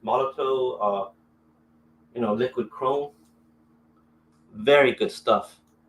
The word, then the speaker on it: Molotow: I got one of these Molotow, it's pronounced Molotow, liquid chrome.